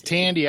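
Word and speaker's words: Thandie: shock value and I think thy did I pronounce it I was no it's Tandy I found out the damn sorry Tandy Tandy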